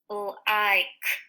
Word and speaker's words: like: And this word follows the magic E rule. So the I is going to say I. The L just says L. And the K says K. Like. And the E is silent.